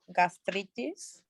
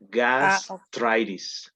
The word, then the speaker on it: gastritis: okay, you will have gastritis. Yeah, but just check the pronunciation. Gastritis. Gastritis. Gastritis. Yeah, Okay. because it's in English, but the writing is the same. Just changes the pronunciation, all right?